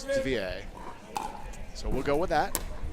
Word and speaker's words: Devilliers: I know some people commonly call him Devilliers. He told me it was Devilliers.